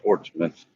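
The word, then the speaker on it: Portsmouth: Heading towards West Portsmith. Portmouth. No. Portmith. No, it's written as Portzmouth. No, it's pronounced Port Smith.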